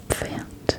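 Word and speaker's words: Pferd: horse is faint.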